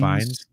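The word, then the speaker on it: Fiennes: He says, "Not a fan on how Ralph uh I'm always bad on pronouncing his last name. I think it's Fines.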